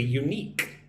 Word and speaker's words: unique: Say it like this. You unique. Unique. Put the emphasis on the second syllable.